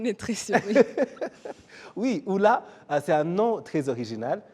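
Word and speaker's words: Ulla: Oui, Oula, c'est un nom très original. Ça s'écrit U-L-L-A.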